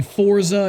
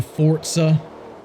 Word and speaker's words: Forza: supposed to be TOA I say Forza it's actually Fort sir who really gives a